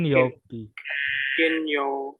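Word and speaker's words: 金曜日: Untuk hari ini dibacanya kin. Kalau Kane, Kalau kane itu berarti uang. Jadi untuk kapan dibaca kin, kapan dibaca kane itu tergantung kalimatnya. Oke, sudah paham?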